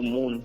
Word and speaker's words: MÜN: So I took the moon from there and stylized it as MUN with the double dots on the U. Right. So yeah, it's my name is spelled MUN, but it's pronounced MOON basically.